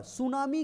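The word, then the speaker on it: tsunami: next question third number सुनामी का अर्थ है सुनामी का अर्थ है देखिए सुनामी का स्पेलिंग होता है starting from T T silent होता है सुनामी का अर्थ है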